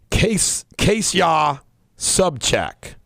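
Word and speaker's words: Ksenia Sobchak: in the New York Times her name is pronounced case case yah sub check k saw its k s ii n iy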